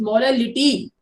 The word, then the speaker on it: molality: उसके बाद आप पढ़ोगे मोलैलिटी, MOLALITY, स्पेलिंग का फर्क है। That is MOLARITY, that is MOLALITY, इट्स मोलैलिटी।